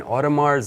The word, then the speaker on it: Audemars: Audemars, there's no S. I mean, the S is... there is, but you won't have to pronounce it.